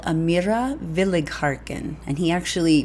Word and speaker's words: Willighagen: on an amazing Young Lyric soprano called Amira Village harken and he actually phonetically spelled it for me which I appreciate